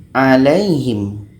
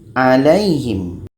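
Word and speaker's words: عليهم: 'Lai' ini dibaca pendek, tetapi diucapkan dengan lembut dan perlahan. Alaihim . Alaihim.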